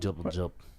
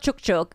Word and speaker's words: Jup Jup: Jup, jup. It's not Chuk Chuk, it's Jup Jup, Jup.